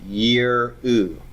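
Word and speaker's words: יִרְאוּ: Over here, I've got to divide after the long kirik, which stands for a kirik yod, and before the vocal shava. Okay? So this is pronounced yir-u.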